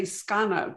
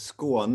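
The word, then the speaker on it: Skåne: needing to help with i will say skana but that i'm sure that's not right yeah no it's school on there i knew it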